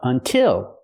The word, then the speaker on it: until: And what about until? It's the same sound because the stress is on the second syllable. Until has two syllables, but the stress is on the second syllable, so we use the I sound like this is. Until.